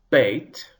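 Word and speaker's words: בּ: Without a dagesh, the consonant is soft. You see, there's no dot in the middle of the beit this time. So now it is pronounced v, veit. Let's hear the difference again. Beit, hard. Veit, soft.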